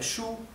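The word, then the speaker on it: 书: Recuerden que el tono, el primer tono, que es el que tiene la rayita horizontal, se pronuncia, es el tono alto. Shu, ¿bien? No es ni shu ni shu, es shu. Por más que suene extraño en español, pronunciar así, esa es la pronunciación correcta del primer tono del mandarín.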